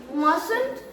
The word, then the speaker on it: mustn't: मस्ट आ Voda needed T टाको silent रखो मस्टंट कहबो नहीं mustn't and needed mustn't and